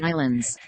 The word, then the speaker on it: Islands: The Canary okay, Islands.